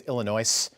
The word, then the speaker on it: Illinois: just I'm guessing also I don't think it's Illinois I think the S is silent uh when FDR was